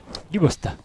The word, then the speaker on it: Dubost: Dubost. Dubost. On prononce toutes les lettres.